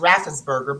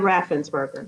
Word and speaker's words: Raffensperger: So the Secretary of State, and I think his name is pronounced Raffensperger, but I'm not Brad certain. Raffensperger. Raffensperger, I think that.